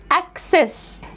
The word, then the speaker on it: access: السي هنا جه بعدها سي هتبقى كي والسي التانية جه اي هتبقى اس، access، access.